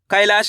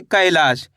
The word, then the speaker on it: कैलाश: कैलाश के अंदर पहले अक्षर कौन सा आएगा? कैलाश। जैसे ही कैलाश बोलेंगे तो यहां पे का उच्चारण कैसे हो रहा है? कैलाश। ऐ की मात्रा आ जाएगी।